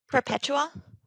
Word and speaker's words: Perpetua: How'd you pronounce her name? Perpetua. Perpetua.